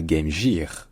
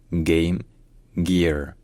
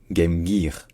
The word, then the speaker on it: Game Gear: Donc ce n'est pas Game Gear en anglais, c'est Game Gear. Game Gear. Et donc si on veut franciser ça quand même, parce qu'on a le droit, si on veut prononcer ça de manière un peu francisée, on peut dire Game Gear.